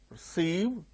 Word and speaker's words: receive: Receive, second syllable gains stress.